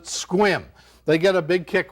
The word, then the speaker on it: Sequim: is in squim washington squim's a funny town it's spelled s-e-q-u-i-m sequim but they pronounce it squim they get a big